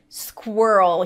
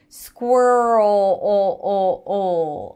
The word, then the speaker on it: squirrel: dark l o squir lift the tongue up for the r and then create tension in the back for the dark l almost as if you're pronouncing an o sound squirrel squirrel squeal stop squealing squee